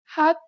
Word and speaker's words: 핫: This letter usually makes an H sound. In the 받침 position, you need to read it as T.